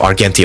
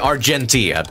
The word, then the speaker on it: Argenti: Yeah, Argenti. Keep mispronouncing his name. You have to pronounce the G. Like, really pronounce the G.